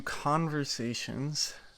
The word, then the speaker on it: Caughversations: Hey everyone, welcome to Conversations spelled with C A U G H.